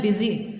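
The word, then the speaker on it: busy: आपने ऐसे नहीं बोलना, इसको आपने बोलना है बिज़ी। क्या बोलना है? बिज़ी, ठीक है। लेकिन इसमें जो स्पेलिंग इसके हैं वो ऐसे ही आएंगे, जो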